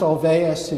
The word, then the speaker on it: Olweus: to go into who that is but it's pronounced Olweus you sort of the grandfather founding father of